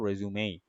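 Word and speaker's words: résumé: তো যেখানে দেখেন তাই লেখা আছে অরিজিন হচ্ছে ফ্রেঞ্চ, আসল ওয়ার্ডটা ছিল রেজিউমার বা রেজিউমে, এটাকেই ওরা রেজিউমেই বলতো, এই আরটা উচ্চারণ করতো না, এটাকে ওরা বলতো রেজিউমেই।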